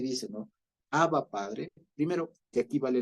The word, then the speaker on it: Abba: Abba, ya no es Abba, es Abba, Padre, ya es Abba, primero. Entonces, primero que no es Abba, con el acento en la primera A, sino en la segunda.